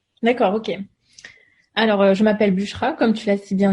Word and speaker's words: Busra: J'ai bien prononcé ton prénom, c'est bon? Exactement, oui, c'est Bushra.